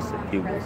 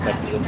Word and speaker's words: succubus: Say especially succubus.